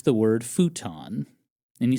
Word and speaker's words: futon: And it would be pronounced in Japan. Futon.